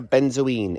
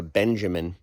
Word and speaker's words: benzoin: z o i n sometimes mistakenly called lindera Benjamin that's just a mispronunciation of benzine which is the actual species all right that's that